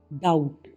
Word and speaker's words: doubt: DOUBT, डाउट, यानी कि शंका। सी, कभी कभी एस के बाद आया सी साइलेंट होता है।